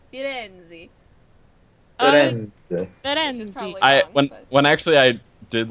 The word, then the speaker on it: Firenze: No, I was joking that you have to say it like Italian. Firenze.